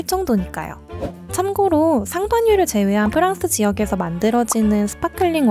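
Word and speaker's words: Champagne: 지난 브랜디 편에서도 언급했듯이 프랑스 상파뉴 지역에서 만든 스파클링 와인만을 법적으로 샴페인이라고 부를 수 있다고 합니다. 샴페인 자체가 프랑스어 상파뉴를 영어식으로 읽은 발음이거든요.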